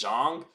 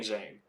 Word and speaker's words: Zhang: got big bang Jang I call him big bang Jen I call him jien